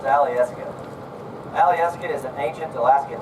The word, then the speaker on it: Alyeska: That word is actually pronounced Alyeska.